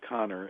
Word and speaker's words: Kanner: And so, by the way, it looks like Kanner, but it's actually pronounced Connor.